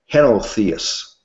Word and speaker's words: henotheists: It says most Roman emperors and citizens were henotheists. I don't know if I'm pronouncing it correctly. It's pronounced H-E-N-O, henotheists.